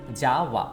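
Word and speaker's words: যাওয়া: Look at how I pronounce Jawa. Jawa.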